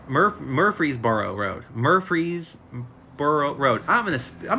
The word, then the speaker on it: Murfreesboro: name has 13 letters I'm gonna try to pronounce it for you Murfreesboro MuRF Murfreesboro Road Murfreesboro Road I'm gonna I'm gonna spell it